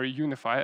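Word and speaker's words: UniFFI: us and that is that tool is called UNFI or UniFi as it's pronounced in the official documentation and that's basically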